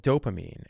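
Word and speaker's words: Doughpamine: are cookies from a brand called dopamine and it's it's spelled D o u g h p a m i n e okay and dopamine is a brand that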